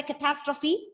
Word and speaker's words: catastrophe: do you mean by catastrophe yes sriram sudden disaster a sudden disaster so the stress is on the second syllable catastrophe okay very good then uh